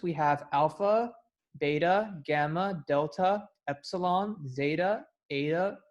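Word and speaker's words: βήτα: Like beta, in our words, is not the correct way to pronounce the letter B in the Greek alphabet. It's actually pronounced beta, and pi should actually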